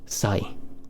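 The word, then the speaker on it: 歳: And how do we pronounce this? Kanji? How do we read this? Sai.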